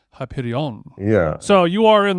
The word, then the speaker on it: Hyperion: to live next to Hyperion, and I think I'm mispronouncing Hyperion. Is it Hyperion? You are. You're adding a little flair to it. You're adding a little flair to the end.